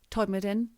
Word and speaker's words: Todmorden: So now we go to a very famous place for ufologists, Todmorden, that's how they say it in West Yorkshire, is known as UFO Alley.